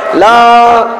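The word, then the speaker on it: لا: ইল্লাল্লাহ, লা ইলাহা ইল্লাল্লাহ, লা ইলাহা ইল্লাল্লাহ। লা তিন আলিফ টান, লা কয় আলিফ টান?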